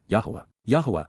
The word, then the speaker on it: Yahowah: born out of valid information and authorized instruction yahwah yah the proper pronunciation of the name of yoah God as